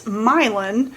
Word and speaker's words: Milan: Um the name of the town is Milin. Oh. Uh but it's spelled like Milan.